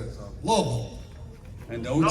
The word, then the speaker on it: Louisville: I was in Louisville, Kentucky last week, and before I was on stage, I had to do a little video. And you said Louisville? No, Louisville.